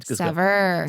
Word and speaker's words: Saveur: How do you pronounce it? Saveur.